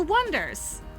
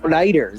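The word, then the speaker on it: Oneders: No, you know how Beatles is not spelled with the proper way? It's spelled B-E-A-T. Beatles. I'm trying Wonders with W-O, with instead of W-O-N, it's O-N-E.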